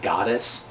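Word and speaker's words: Godus: by Kickstarter called goddess it's g-o-d-u-s but it's pronounced goddess um he wants to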